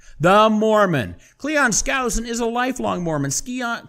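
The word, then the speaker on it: Skousen: book by an ex FBI agent in 1958 Cleon scen Cleon scen actually that's not the correct pronunciation it's Cleon scowen uh I am uh a fan of scow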